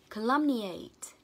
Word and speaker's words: calumniate: Trong âm dương vị từ lum, nó là âm A ngắn. Calumniate. Calumniate.